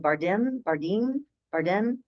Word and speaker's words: Bardem: Bardem.